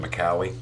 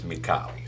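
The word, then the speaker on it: Micali: named todd mccauley okay everybody calls him macaulay but he's italian and his name is spelled m-i-c-a-l-i that's mikali sorry i'm the only one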